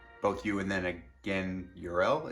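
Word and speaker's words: Jor-El: you and then again url it's weird also he doesn't pronounce the j as a j it's a y um fun fact in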